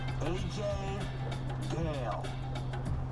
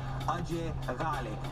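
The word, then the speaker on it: Ajay Ghale: AJ Gale. Or, as we all pronounce it properly, Ajay Gale.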